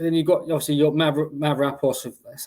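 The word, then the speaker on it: Mavropanos: But then you've got obviously your Mavropoulos, that's how you pronounce it, the Greek lad.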